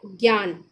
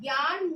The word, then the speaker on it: ज्ञान: ठीक है, तो ज्ञान में आपका होगा जा। ठीक है, जा और प्लस ज्ञान। जरा ध्यान से उसको उच्चारण लीजिए। जो हम लोग की ये जो हिंदी भाषा है ध्वनि, ध्वनि पे डिपेंड करती है। तो ये आपका होगा जा, जा और इया।